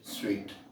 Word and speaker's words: suite: So, suite is a collection of furniture in a particular room, and in hotels also we have this, we call it suite. Suite pronounced as suite.